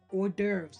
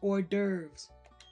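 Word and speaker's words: hors d'oeuvres: Orderves. The word is pronounced orves.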